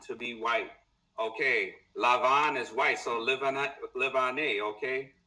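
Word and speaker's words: לבן: Lavan. This is the root, okay? Lamed Beit Nun, to be white. Okay? Lavan, to be white. Okay, Lavan is white, so Livane, okay?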